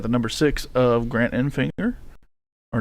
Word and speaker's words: Enfinger: number six of Grant Enfinger or not the number six in sixth place. You got the number nine of Grant and Finger, that's the proper way to say it.